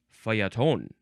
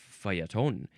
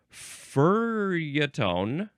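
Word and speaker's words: feuilleton: this next is okay how do you say this word Fon faton and the N is subtle it's a subtle n faton it is spelled f e u i l l e t o n yes there's two L's uh that is a very French spelling a very Frenchy word fon uh this is a noun oh other pronunciations are fotone Fatone or F Fon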